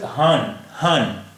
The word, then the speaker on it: हाँ: Noon without a dot is called noon gunna, and its sound and the sound of noon gunna is nasalized.